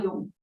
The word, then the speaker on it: Jung: Is it Jung or Jung? He's German, and the name is correctly pronounced Carl Jung.